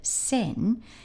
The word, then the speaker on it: 先: So the first part of the word for sensei, that's this character, sen, you could say was very similar to a cow on human legs.